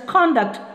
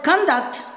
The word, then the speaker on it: conduct: because of my conduct we have to pronounce it as conduct when it is verb sorry when it is noun conduct means behavior if we pronounce the same word as conduct it becomes swab we shall learn about